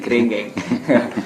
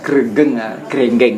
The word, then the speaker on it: Grenggeng: Orang timur, kalau orang timur ini bacanya Grenggeng. Jadi di desa Grenggeng ini juga ada objek wisata ya.